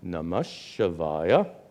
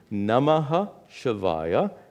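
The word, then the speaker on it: नमः शिवाय: So the mantra we will use, a very familiar mantra, Om Namah Shivaya. And in pronunciation, Namaha Shivaya becomes Namash Shivaya, which merges and becomes namah shivaya.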